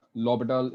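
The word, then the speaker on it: L'Hôpital: सबको पता है नहीं कि सब लोग लॉपिटाल, इसको बोलते लॉपिटाल है लेकिन लिखते एल हॉस्पिटल है, ठीक है? लॉपिटल बोलते हैं उसको, H साइलेंट है, लेकिन लिखते एल हॉस्पिटल रूल है।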